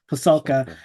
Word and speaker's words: Pasulka: Is it Pasulka? Pasulka, best-selling book, American Cosmic.